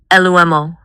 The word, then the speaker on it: Lumo: What about lumo? Lumo. It sounds like light or lumen. It's two syllables.